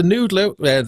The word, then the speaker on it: NDLR: But this is great, and actually, the Noodler or the NDLR, as it's spelled, is a fabulous piece of equipment that they've.